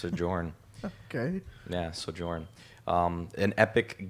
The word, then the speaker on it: Sojourn: kind of like so Joyner Weaver it's just pronounced adjourn okay yeah sojourn in Epic Games so if